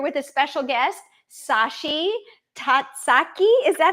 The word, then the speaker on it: Tazaki: Tatsaki. Is that how you say it? Tati. Tatsi. Yeah. Satsi. I have. Okay. And um, and Sashi. How do you say your last name? Uh, Tazaki.